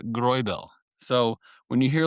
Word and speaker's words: Greubel: here, you had Robert Grubel, which again, if we're going to look at if you're going to hear Robert, it's actually I believe Rober and then it's pronounced Groel.